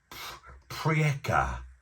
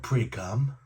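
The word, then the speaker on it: Priekā: And if you're Latvian, I do actually know how to say cheers in Latvian, or I might butcher the bumhole out of it. It's prieka. Prieka. Not priekam.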